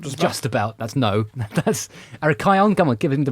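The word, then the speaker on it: Arrhichion: There was a very famous chap called Aricon, I believe. Am I Have I spelled that pronounce? I pronounced that correctly about just about. That's No, that's Arkion.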